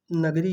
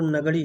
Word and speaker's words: नागड़ी: है ठीक है ये नगरी है इसका जो शुद्ध उच्चारण है वो नागड़ी है क्या है नगरी ध्यान रखिएगा नागड़ी है ठीक है नागड़ी के